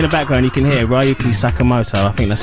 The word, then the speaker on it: Ryuichi: background you can hear ryuki sakamoto i think that's how you say it uh i think it's ryuichi but really close enough all right then that's